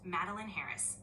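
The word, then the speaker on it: Madolyn Harris: That name is pronounced Madeleine Harris.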